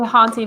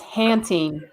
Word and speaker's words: Hanting: I always want to say haunting, but it's hanting.